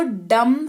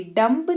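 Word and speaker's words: dumb: आया हुआ है, तो यहाँ पर बी का उच्चारण नहीं होगा, इसको डम ही पढ़ेंगे, डम्ब नहीं पढ़ेंगे, ठीक है, डम।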